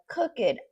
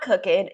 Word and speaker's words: cooked: So, by the time you arrive, I will have cooked. Not cooked. It's cooked with a t a t sound at the end there.